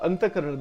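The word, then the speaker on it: Antahkarana: So in Hindu philosophy, the Anthakarna, it is pronounced Anthakarn, actually that's the pronunciation.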